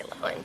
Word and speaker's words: Lohan: that I'm pronouncing it's Loan, not Lohan. Loen. Loen. It actually it doesn't really matter. Sure it does. No, it doesn't. My My family says Lohan. I say just say Lohan.